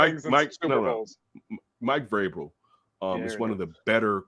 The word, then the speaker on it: Vrabel: Thank you, Grable. I said it right that time. No, Vrabel. Vrabel. How always go with the G?